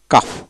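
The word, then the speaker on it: calf: তারপরে ও ইউ এল কে ওয়াই, ওকি, ওকি তার মানে কি এল এর উচ্চারণ হবে না। তারপর আসেন সি এ এফ, কাফ, কাফ এইভাবে।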